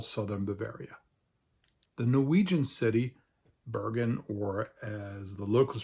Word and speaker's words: Bergen: And unlike in most of Norway, where people pronounce this letter as a rolled, trilled R, very much like in Scotland or in Sweden as well, as a R, and where people would pronounce the city Bergen, in this part of Norway, it's pronounced Bergen.